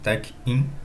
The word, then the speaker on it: TechInn: TechIn, né? Se pronuncia assim.